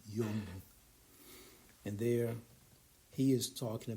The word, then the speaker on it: Jung: It's spelled Jung, but it's pronounced Yung, Jung.